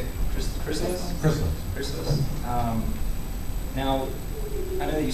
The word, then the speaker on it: Chrysalis: Chrysalis?